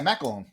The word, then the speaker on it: McElhone: Yeah, McElhone.